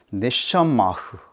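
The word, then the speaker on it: נְשָׁמָה: 네샤마흐 생기는 H흐 숨소리로 끝납니다.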